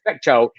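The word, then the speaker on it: Fecteau: gay representative ryan fethtowell i believe f facto is the way you say facto is set to become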